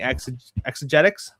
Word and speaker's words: Exegetics: and then Jared, Refining Exegetics. Yo. Exegetics, I think. Yes, yeah. It is exegetics. Okay, so I'm the only person that pronounced it right the first time.